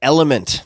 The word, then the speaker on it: LMNT: this episode is brought to you by element that's spelled lmnt what is element it's a delicious